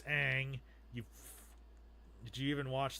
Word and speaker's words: Aang: then they you know they mispronounce Aang it's not Ong it's Aang you did you even